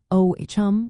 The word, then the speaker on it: Ogham: to buy Ogham-engraved jewelry, using the correct pronunciation, O-H-M, will be appreciated.